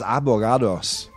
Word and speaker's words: abogados: In position number 5 we had lawyers, abogados. Not avocados, right? I know my pronunciation is bad.